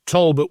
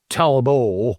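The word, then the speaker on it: Talbot: there's a period there's Tolbert which people associate with England and then there's Talbo which is Tolbert and you don't pronounce the T which is a French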